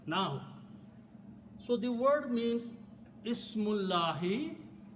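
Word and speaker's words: اسْمُ اللَّهِ: As I said, when we read them together, we do not pronounce this alif. So the word becomes Ismullahi.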